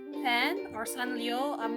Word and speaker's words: Sanrio: I call this the SanRio pen or SanLio. I'm not sure how to pronounce it. This is Japanese. I'm assuming the r is more like an l.